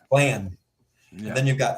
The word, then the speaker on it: Blann: Blann. Blann.